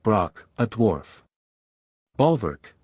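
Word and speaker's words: Brokk: wisdom and eloquence quence Brock pronounced Brock a dwarf bver o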